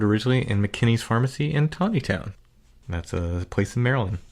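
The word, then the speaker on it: Taneytown: in mckinney's pharmacy in tawny town that's a place in maryland looks like teeny town but it's pronounced tawny town so uh i heard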